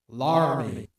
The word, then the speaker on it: Laramie: After graduating high school, Julius attended the University of Wyoming in Laramie, which is pronounced Laramie.